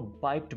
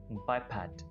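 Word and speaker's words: bipod: जिनको पता होता है वो इसको बाइप्ड बोलते हैं बाइप्ड यानी गलत प्रोनाउंस करते हैं लेकिन इसकी इंग्लिश है बाय पैड बाय पैड बाय द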